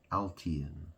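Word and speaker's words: Altiyan: But his name is it's like code, it's like all Thai anus, Altian. It's spelled A-L-T-I-Y-A-N.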